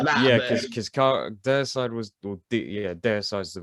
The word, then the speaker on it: Deicide: Yeah, because Deicide was, Deicide's the right way to say it, right?